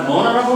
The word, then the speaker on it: honorable: We do not sound the H.